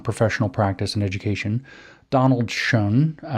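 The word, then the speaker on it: Schön: education Donald shun shern it's spelled like the word for beautiful in German but it doesn't have an umla I don't know what we're doing with this shown s-c-h-o-n we're going to say shown it's probably not right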